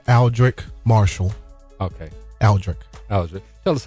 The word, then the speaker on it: Aldric Marshall: Uh the the correct pronunciation of my name is Aldrich Marshall.